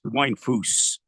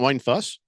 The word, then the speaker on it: Weinfuss: amazing uh wi fous wine fous it's not wine fuss no it's it's wine fous are you sure pretty